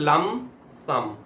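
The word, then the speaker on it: lump sum: এল ইউ এম আচ্ছা একটা জিনিস বলবো পি সাইলেন্ট হবে পি এ প্রোনাউন্স হয় না হ্যাঁ লাম সাম বলবো না আমরা বলবো লাম সাম লাম সাম তো লাম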